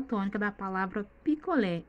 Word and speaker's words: picolé: Observe na palavra picolé, picolé. Vocês observaram que o lé está mais forte? Essa é a sílaba tônica da palavra picolé, é o lé.